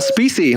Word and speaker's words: Specie: Yeah, it's Specie. It's nothing fancy. Like, So I call my family endangered. We're the endangered species.